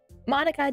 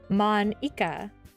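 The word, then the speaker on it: Monika: right in your name Mana that's not how you say my name at all also that joke makes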